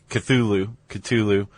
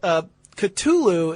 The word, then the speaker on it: Cthulhu: Cthulhu, or there's a pronunciation that Lovecraft wrote in a letter to a fellow author, right?